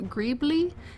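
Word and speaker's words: greeble: and i need to say it correctly a grieble or apparently it's pronounced greebly is a prominent detailing added to the surface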